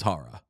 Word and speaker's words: Chara: Like if we want to be real, Charara's last name is Hara.